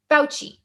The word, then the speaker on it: Fauci: Fauci.